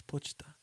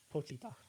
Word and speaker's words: Pochita: It's Pochita. Pochita.